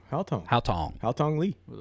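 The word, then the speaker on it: Haotong: How do you spell it? I can't see it. Hao Tong. Hao Tong H-A-O-T-O-N. Yep, H-A-O-T-O-N-G. Hao Tong.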